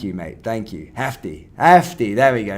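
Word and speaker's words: Jefté: stadium had he started for Noosa Jay is pronounced as hey thank you mate thank you Hefty Hefty there we go not jefty Hefty there we go I mean I'm not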